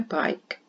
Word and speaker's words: bike: It's fun to ride my bike. B. I. K. Remember, I said the silent letter is on the end, and it's an E.